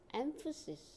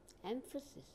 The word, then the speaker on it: emphasis: Emphasis. Here, the stress is on first syllable, M. Emphasis.